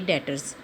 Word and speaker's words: debtors: accounting tiles में से छह एकाउंटिंग टर्म करेंगे डेटर्स बच इसको बंद कैसे करते हैं इसमें 20 साइलेंट होती है इसको डेटर्स होते हैं डायरेक्टर्स